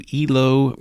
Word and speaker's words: Ilo: album ports of call high low even though it's spelled like Hilo Hawaii actually as far as we can tell refers to ehlo Peru EVO Peru was a